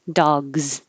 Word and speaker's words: dogs: rule to remember this dog is voiced so it looks like an s but it sounds like a z dogs cat cat t is